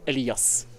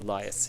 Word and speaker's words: Elias: enough it's the English in Norway we say elas elas yeah but it's just go with Elias it's uh I think easier for everyone yeah we're probably going